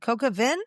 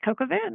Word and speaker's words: coq au vin: how to pronounce that. Coca Vin? Really? Oh, yeah. Yeah. That's coq au vin, and that's chicken.